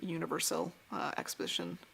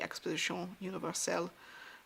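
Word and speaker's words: Exposition Universelle: stamp here for the universal uh Exposition so uh or I guess if you want to say it correctly Exposition Universal um from Paris of that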